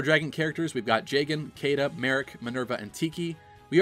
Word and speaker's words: Caeda: going to be getting Caeda as well, or Sheeta for those of you that prefer the Japanese pronunciation.